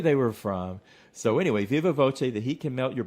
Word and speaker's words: viva voce: V O C Ae, and I'm giving it kind of an Italian pronunciation. It's Latin for by word of mouth. I'm not sure if it would be pronounced differently in uh Latin or Spanish, but I'm saying Viva Voce so I can follow the uh Italian spelling.